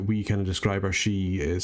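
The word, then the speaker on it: Sidhe: the way that we kind of describe our She is spelled slightly differently.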